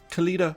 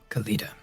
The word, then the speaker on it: Khalida: Khalida with a D, but some people pronounce it with a T depending on where they're from. It's a cultural thing. Khalida.